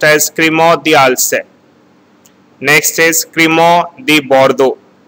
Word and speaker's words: Crémant d'Alsace: It is pronounced as Crémant d'Alsace. Next is Crémant de Bordeaux. First is Crémant d'Alsace, Crémant de Bordeaux, Crémant de Bourgogne.